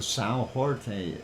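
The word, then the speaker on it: São Jorge: new Quakes on a sale George or Sal Jorte if you want to pronounce it in Portuguese uh been quiet since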